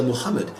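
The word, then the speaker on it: Muhammad: Mohammed it's a leader Mohammed and of course the H is pronounced because it's a name of Arabic derivation but of course it's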